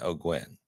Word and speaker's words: O'Guin: I was thinking O'Gwen. Boom. You nailed it. I did? Perfect. O'Gwen. Thank you. Oh, O'Gwen.